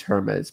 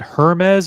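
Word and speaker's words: Hermès: First of all, is it Hermes or Hermes? Like I think it's the French pronunciation is Hermes. It's not Hermes.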